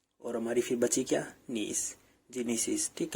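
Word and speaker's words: gneiss: नीस, जिनीसिस। ठीक है, जिनीसिस कैसे प्रोनाउंस करते हैं?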